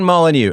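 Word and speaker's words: Molyneux: Polish gay Steven and aristocratic French with a silent X at the end.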